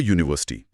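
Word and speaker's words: university: अ यूनिवर्सिटी यहां शब्द यू से शुरू हो रहा है जो एक वोवेल लेटर है। लेकिन इसकी ध्वनि ध्वनि यू से शुरू होती है जो य जैसी यानी एक कोसोनेंट ध्वनि है। इसलिए अ यूनिवर्सिटी सही है।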